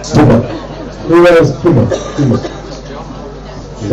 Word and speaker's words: Puma: How do you pronounce it? Puma or Puma? German. Puma.